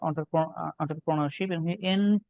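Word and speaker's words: entrepreneurship: খুবই গুরুত্বপূর্ণ একটা বানান 10 নম্বরে, অন্টারপ্রনারশিপ। এন্টার বলে না, এটা অন্টারপ্রনারশিপ বলে। উচ্চারণটা হচ্ছে ও দিয়ে, ঠিক আছে? অন্ট্রা, উচ্চারণটা হচ্ছে অন্ট্রা।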